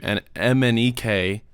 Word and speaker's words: MNEK: that this guy named Mnek did that I love and I've been obsessed with. It literally spelled Mnek, and then you say it like it's spelled.